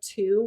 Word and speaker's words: two: number I gave the example of two with the silent W and you it's in